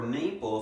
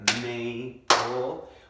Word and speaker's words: maple: the o sound and the trick is you'll hear that L but you won't hear that e in this case that e is like that silent E that we mark off and say hey we don't actually hear it okay so for Maple we